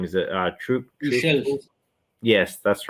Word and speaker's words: Tuchel: And they brought in, sorry, I can't pronounce his name. Is it Tuchel?